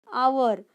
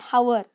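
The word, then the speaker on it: hour: about our Hou our now H is silent how we pronounce our not Howard how every will be wrong then this our yet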